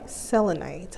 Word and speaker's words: selenite: strange reason I always have a difficult time pronouncing it say it again for me selenite okay instead she has a job and she